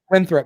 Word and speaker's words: Winthrop: It's Winthrop. Make sure you pronounce it right.